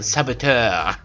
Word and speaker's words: saboteur: You know, with the French pronunciation, Saboteur.